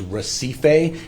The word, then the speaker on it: Recife: I will pronounce what I believe it's the proper pronunciation, which is Recife. It's spelled like recipe, but with an F instead of a P, R-E-C-I-F-E way, South San Jose.